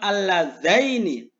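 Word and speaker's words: اللَّذَيْنِ: Kalau tingkah jer dan nasab, diucapkan alladzaini. Allataini. Awas ya, zanya harokatnya fathah. Taknya harokatnya fathah.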